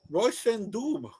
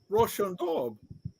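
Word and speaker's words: Róisín Dubh: So I went with Black Rose, or should I say Roshan Doob. Is that how it's pronounced? Roshan Dove. Dove, like D-O-V-E.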